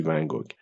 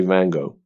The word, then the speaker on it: Van Gogh: و یه چیز دیگه، ونگوگ هست نقاشه، اونو تلفظ نکنید این فارسی ونگوگ. In English they say Van Gogh.